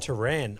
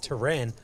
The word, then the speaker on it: Tehran: Okay, pronounced Tehran. Okay, so we're going to go with option number 2, pronounced Tehran.